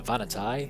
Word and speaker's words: Vanatai: The Vanatai, pronounced Vanatai, are a very interesting race, only recently discovered and barely understood.